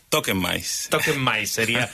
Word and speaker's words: tokenMYs: con mayúscula y s con minúscula todo junto toquen mys qué tal Juan Pedro Cómo estás lo dicho Todo bien toquen maíz la pronunciación correcta es pero bueno creo que es